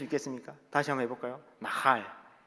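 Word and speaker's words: נחל: 완전히 그 광야에서 건조한 바람이 막 불어가지고 목이 막 마르고 그 모래바람 때문에 목이 잠겨가지고 가래가 끓듯이 막 나할 이렇게 하셔야 됩니다. 할 수 있겠습니까? 다시 한번 해볼까요? 나할.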